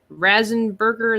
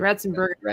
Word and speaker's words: Ratzenberger: Razenberger, is that how you say his last name?